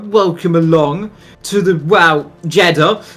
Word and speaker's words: Jeddah: along to the wow Jeddah um which rhymes with cheddar as some people know